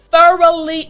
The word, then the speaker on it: thoroughly: to repeat after me thoroughly enjoyed good th put your tongue through your teeth thoroughly enjoyed excellent now